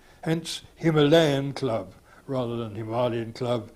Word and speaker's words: Himalaya: For its plural or adjectival forms, you have to revert to the anglicised pronunciation, or in other words, to the Malaya sound-alike rather than the Somalia sound-alike. Hence, Himalayan club rather than Himalayan